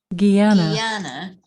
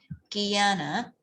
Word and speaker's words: Guyana: Dominican Republic, Dominica, or Mexico, how do you pronounce that right? Guyana. Right, Guyana.